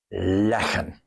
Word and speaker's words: leggen: Leggen. Notice that here, the pronunciation is important. Liggen, static. Leggen, movement.